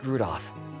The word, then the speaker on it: Rudolph: Anyway, this guy's name is pronounced Rudolph.